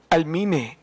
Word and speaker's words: Almine: Ni JM, di ko alam kung paano i-pronounce itong Almine o Almine? Oh. Almine. Ayan, JM Almine. Nakalagay po dito, sabi niyo